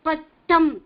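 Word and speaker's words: பட்டம்: Pattam, it you have to pronounce. Ittam is the rhyming word sound. Ittam. Pattam, sattam, nattam, vattam, kattam. Okay. So many things are there. Ittam is the sound.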